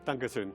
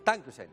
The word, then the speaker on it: Dankeschön: Dankeschön. Dankusen.